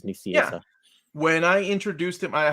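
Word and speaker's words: Nicieza: off of the recording i asked him how to pronounce his name and that's what he told me is nucia when i introduced him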